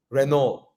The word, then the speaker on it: Renault: comes to Renault right Renault hey you're supposed to say the r in the French way no they know it's